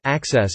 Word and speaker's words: AXS: AEG partnered with Outbox Enterprises, a startup company, in which AEG is both an equity partner and a client, to develop AXS, pronounced Access.